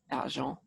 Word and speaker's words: argent: Because if you know your Latin languages, silver, argentium, well, in French it's pronounced argent.